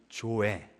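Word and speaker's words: ζωή: 이걸 뭐라고 부르냐면 조에, 영어 스펠링으로 하면 Z-O-E, 조에라고 부르는 겁니다.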